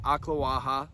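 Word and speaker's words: Ocklawaha: Yeah, so a lot of people see Lake Aklawaha. They don't know how to pronounce it, but it's Lake Aklawaha.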